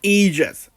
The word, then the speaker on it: Aegis: It's pronounced Aegis. I mean, it's a Greek word, people.